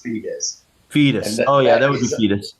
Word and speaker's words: Foetus: How's that pronounced? Foetus, Foetus. Okay, so that's still pronounced fetus.